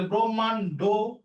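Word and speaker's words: ব্রহ্মাণ্ড: তাহলে এর উচ্চারণটা কিসের মত হবে? ও এর মত হবে। তাহলে ব্রহ্মান্ড।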